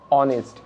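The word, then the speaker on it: honest: ঠিক আছে, আবার এখানেও এইচ সাইলেন্ট রয়েছে তাই অনেস্ট।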